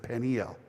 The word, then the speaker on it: Peniel: In the north, they pronounced it Peniel.